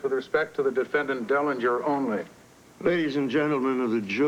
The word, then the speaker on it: Dellinger: is offered only with respect to the defendant Derringer. I think Your Honor means Dellinger. Dellinger, that's right. Mr. Dillinger said we must issue a...